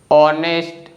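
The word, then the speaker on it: honest: ठीक है, और इंग्लिश लैंग्वेज में कुछ वर्ड्स ऐसे होते हैं जिसमें जो लेटर एच है ना, यह स्टार्टिंग में आता है और साइलेंट होता है, जैसे कि ऑनर, ऑनेस्ट, आवर। तो इन तीनों वर्ड्स में जो लेटर एच है ना स्टार्टिंग में आ रहा है और यह कोई साउंड नहीं बना रहा है, इसीलिए लेटर एच साइलेंट है।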